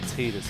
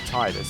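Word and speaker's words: Tidus: pronunciation actually occurred, because there was no official pronunciation for Titus until the person who did the voiceover for the first trailer kind of got the script. He didn't get any kind of like official word from the other side about how he should pronounce it. He took a look at the script, and instead of pronouncing it Titus, he pronounced it Titus.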